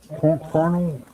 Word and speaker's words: kernel: Well, I was wondering, the kernel, I said it right, didn't I? Kernel? Kernel. Think of a corn kernel. No KFC. Think of Colonel Sanders.